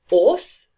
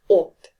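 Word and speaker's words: 옷: It is pronounced as the sound rather than s sound. So it's not os, but ot.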